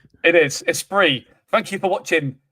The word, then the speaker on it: Esprit: It's pronounced Esprit, all right? It is. Esprit. Thank you for watching Esprit, not a spirit.